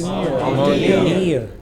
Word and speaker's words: mountaineer: mountaineer, All of these words ending in ERE or EER take stress on the final syllable.